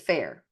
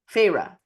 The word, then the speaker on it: Feyre: Because I would pronounce it Fair. Feyre. Okay. Feyre Archeron, a 19-year-old huntress,